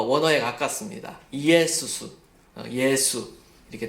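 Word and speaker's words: Ἰησοῦς: 이에수스. 그게 바로 예수죠. 근데 이제 영어는 그것을 지저스라고 발음하지만 사실 우리나라 말이 더 원어에 가깝습니다. 이에수스, 예수 이렇게 더 가깝는데요.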